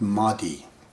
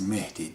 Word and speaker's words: Mahdi: called mehti in pronunciation you guys call it mahdi but it is meti the guide the divine